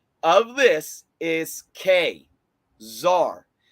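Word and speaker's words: Ka-Zar: Phonetically, guys, the proper pronunciation of this is K, czar. The reason why it's K is because the hyphen breaks the syllables.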